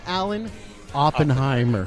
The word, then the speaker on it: Alan Oppenheimer: Ladies and gentlemen, Alan Oppenheimer. Look at that. Did I say it right? You did.